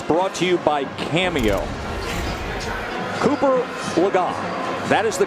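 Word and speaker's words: Cooper Legas: Cooper Lagat. That is the correct pronunciation, as we corrected ourselves just a few minutes ago.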